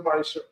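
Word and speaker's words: ma'aser: Verse 8 to 10 means 10 in Hebrew, and it's pronounced Maisha.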